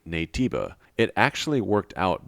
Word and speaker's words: Naytiba: and adopt the name nativa it actually worked out because shiftup just spelled out in English letters the way native phonetically sounds in Korean in my opinion this